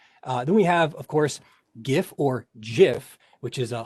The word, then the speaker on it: GIF: to be compressed then we have of course gif or jif which is a hilarious thing if you've never looked into the pronunciation problems with it um the developers of gif or jif pronounce it as jif and the reason why they did this is